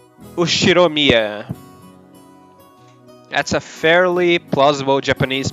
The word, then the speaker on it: Ushiromiya: no the first part is my family name ushiromiya that's a fairly plausible japanese pronunciation so far the problem is my own